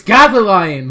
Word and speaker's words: Gothalion: and my good buddy goth alion how you doing today goth I'm good whoa you just you just pronounced my name correctly I know I know I'm I'm sorry it's goth lion all right there it